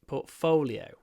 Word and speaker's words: portfolio: your portfolio portolo oo a bit like we have um photo has two o sounds photo the same with folio folo folio pfolio portfolio if you want to sound good at a at an interview and you need to show portfolio you ought to be able to pronounce portfolio correctly so make sure that